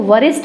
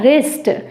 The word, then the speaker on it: wrist: फिर गलत बोल देंगे, इसको वरिस्ट बोल देंगे, कुछ भी बोल सकते हैं, लेकिन सही प्रोनाउंसिएशन होगा इसका रिस्ट, रिस्ट।